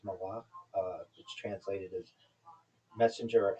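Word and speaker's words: מלאך: So, the Hebrew pronunciation is malach, which translated as messenger or emissary.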